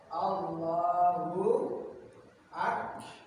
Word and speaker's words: Allahu Akbar: Yang sering ya kita tulisan Allahu Akbar yang betul kayak gini nih. A-nya pendek ya. Allahu Akbar.